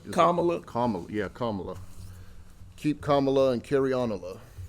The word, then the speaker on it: Kamala: am I saying it right Kamala Kam yeah Kamala keep Kamala and ker anola um no I